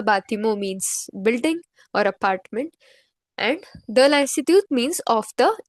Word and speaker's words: et: Et is pronounced as A.